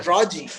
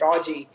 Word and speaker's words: Raji: is it pronoun pronounced reggie yeah it's a raji like with the elongated uh it's raji uh yeah i love